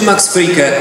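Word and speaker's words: Max Fricke: Niektórzy mówią, że tam jest aż jeszcze E i mówią czasami Frickę, ale tego E tam nie ma.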